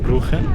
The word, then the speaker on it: Brugge: في ناس بتقول عليها بروخه دي بالهولندي لان حرف الجي بالهولندي بتقاع فبيقولوا عليها بروخه في ناس بتقول عليها بروج بالفرنساوي فاحنا هنقول يعني الدارك